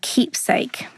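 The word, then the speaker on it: Qeepsake: there's an another app or um website called Keepsake and that's spelled with a Q so it's q e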